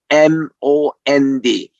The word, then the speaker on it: almond: 이제는 아몬드를 다 압니다 almond 이거를 앱이 무금이에요 그래서 L 발음을 하면 안 됩니다 애를 없애고 아몬드예요 아가